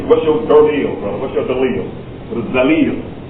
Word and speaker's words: dalil: This is a long E sound. Dalil. Some people say, what's your dalil, brother?